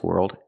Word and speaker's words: world: way the American Business world and financial world work and pronunciation it's not word it's world world use the r sound like Burger were plus the dark L World tighten your tongue